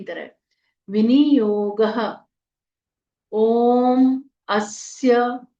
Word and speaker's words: अस्य: ओम अस आदित्य हृदय स्तत्रस्य अ आधा स य पूरा अस्य आदित्य य पूरा है